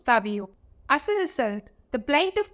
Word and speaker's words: Fab!o: for all other cookies despite being spelled f a exclamation mark o the logo on the defant biscuits must be pronounced Fabo as a result the